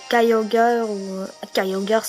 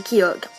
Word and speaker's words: Kyogre: non c'est pas bref il y a plusieurs prononciations mais la vraie c'est qui c'est pas Cayo girl en anglais mais en bref la vraie c'est qui ogre OK Groudon c'est Groudon